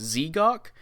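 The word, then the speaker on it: Z'Gok: i was said zagok i don't know how to pronounce it because it's z-e-g-o-k so technically it's z-gok but also call that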